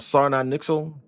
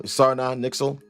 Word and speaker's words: Sarna Nixel: So, with this introduction of Sarna Nixel, which is how you pronounce his name, Sarna Nixel.